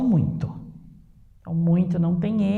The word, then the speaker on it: muito: E aí temos a palavra muito, que é um ditongo nasal.